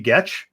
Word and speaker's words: Getch: There are two of them, and they're both from the same listener, Sally Getch, rhymes with sketch, who is also responsible for developing the FIR Podcast Network website.